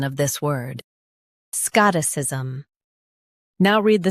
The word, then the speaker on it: Scotticism: Both US and UK have the same pronunciation of this word, Scotticism. Now read the syllables shown on the screen naturally. Scott, Scotticism. Emphasize Scott and soften is.